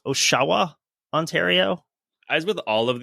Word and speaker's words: Oshawa: speakers would pronounce it Oshawa, which is confusing because it sounds more like Ottawa, but I'll go with that.